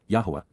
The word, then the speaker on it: Yahowah: to the mission of accompanying and serving with, Yahowah, the proper pronunciation of the name of Eloah, God as